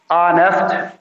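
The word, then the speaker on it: honest: और इसमें तो देखें ऑनेस्ट, एच जो है वैसे साइलेंट है।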